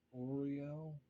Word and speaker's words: Uriel: Michael Raphael Gabriel and Uriel sometimes it's pronounced Oreo I a lot of